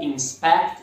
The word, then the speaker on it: inspect: Quality Assurance Analysts are technicians or engineers who inspect software products to see if they're up to industry standards and free of any issues. Foco no verbo to inspect. Inspecionar, sílaba tônica segunda.